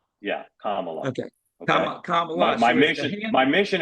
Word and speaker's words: Kamala: I think that if the handlers can play Camala as a GameStop type let me stop let me stop let me stop you right there pronounced Kamala NOA no like Kama like k k yeah Kamala okay my mission my mission is to get